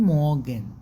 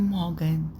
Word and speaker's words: Morgen: في جوتن مورجن، جوتن مورجن، جوتن مورجن، جوتن مورجن، مورجن، ما قلتش مورجن، لا مورجن، مورجن.